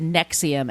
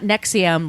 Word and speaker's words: NXIVM: prayed on them later they changed the name to Nexium and it's spelled NX I VM all capitals it's not nexum like the heart medicine the heart you the